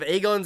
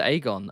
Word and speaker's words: Aegon: They pronounced it Aegon. And then I think it's season five onwards suddenly they started saying Aegon. Season five of Game of Thrones onwards including House of Dragon suddenly Agon. It's like Dragon Lord. So it's like they it's like they were actively told no no make sure you say it Make sure you say it in the worst way possible.